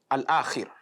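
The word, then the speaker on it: الآخر: When you pronounce this, when you recite it correctly, you will observe that it is an open mouth recitation. the tail end of your tongue is not touching the upper part of the mouth.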